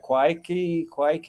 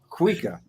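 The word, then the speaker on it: cuíca: See, people, they ask me, what is this thing that's spelled Cuica? How do you say that? Quike, or no, it's called a Cuica.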